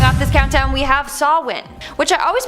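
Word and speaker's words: Samhain: Starting off this countdown, we have Sawin, which I always pronounced as Sam Hayne, but apparently it's Sawin.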